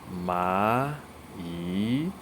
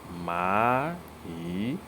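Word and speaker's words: 蚂蚁: You can see the characters there, and it is pronounced as ma yi. So ants are called ma yi, ma yi.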